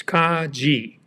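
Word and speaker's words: Kagi: how do you pronounce Kaji well it's kaj G the G sounding like the G in gift and Kaji means key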